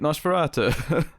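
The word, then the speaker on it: NOS4A2: but I mean that's how you pronounce that show title, right? Nosferatu.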